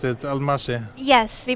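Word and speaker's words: Almási: that's your countryman yes so that's how we pronounce it al Masha yes we pronounce the S as a like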